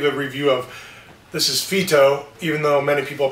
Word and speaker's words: Phyto: a shampoo give a review of this is Fito even though many people pronounce it Fido which drives me crazy how does a dog's